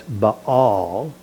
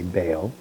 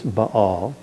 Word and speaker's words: Baal: Whenever you see two vowels in a Hebrew word, you pronounce each vowel separately. That's why it's Baal, even though we want to say Baal. It's Baal.